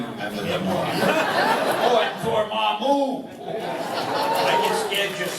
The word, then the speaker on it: Dormammu: Oh, and Dormammu. I get scared just saying the name. Now you know how it's pronounced.